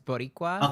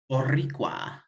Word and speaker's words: Boricua: Boricua it's supposed to be B-O-R, not bot. So he misspelled. That's supposed to be a pronunciation guide for how to say his name. It's Boricua. Okay, my bad. Because it's the name for Puerto Ricans, and I think it's like a dialect of Spanish. So Boricua.